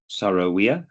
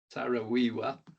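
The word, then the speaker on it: Saro-Wiwa: I think you mentioned uh the relationship with uh Sorowia. I can't my pronunciation is not Sarah Wiiwa. Sowiwa.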